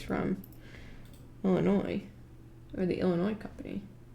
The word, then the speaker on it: Illinois: you're um someone from illinois i appreciate that you don't pronounce the s i am french and